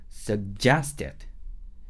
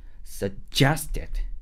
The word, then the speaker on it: suggested: 그 다음에 suggested stress는 이음절에 있어요. 그래서 써를 발음하고 살짝 기다려준 다음에 제스에서 손가락을 세게 빡 돌리면서 호흡도 집중시켜 주세요. suggested 하면서 써를 기다렸다가 제스에서 손을 꽝. suggested 이렇게.